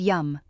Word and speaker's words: Yam: The Biha mantra, Yam, pronounced Yum, will help balance your heart chakra.